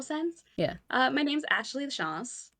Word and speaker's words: Lachance: My name's Ashley Lachance. I say it a little more French, I'm Mm.